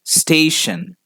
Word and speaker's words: station: is coming there but look at the second t station so we are pronouncing as if the spelling of that word should be s t a s h i o n sh Sound Station but there is no letters representing that sh sound instead we have put